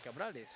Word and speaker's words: Cabrales: Cabrales.